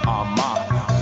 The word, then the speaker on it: Armah: My last name is pronounced Armah.